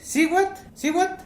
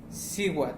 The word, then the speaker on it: Cihuatl: Y es Siwat o Lamat. Por aquí, Lamat, Siwat.